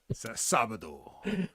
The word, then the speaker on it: Sábado: Sábado.